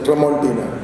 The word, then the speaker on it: Tramontina: what was that knife of yours he said Tramontina is it Tempa no it Tramontina so it's interesting I think a couple of